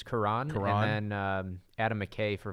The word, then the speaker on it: Cuarón: Curion. Yeah, Cuarón. How do you say? I think it's Cuarón.